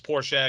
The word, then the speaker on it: Porsche: say poor people say Porsche but it's Porsche because you pronounce the E I say Porsche yeah yeah it's the